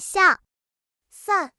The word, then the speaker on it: 伞: Cách phát âm của "伞" (sǎn) rất giống với "散" ( sàn ), có nghĩa là "chia tay" hoặc "ly thân ".